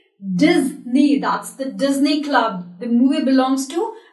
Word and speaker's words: Disney: Focus on this section, S. That is Z. We never say Disney. We say Disney. That's the Disney Club.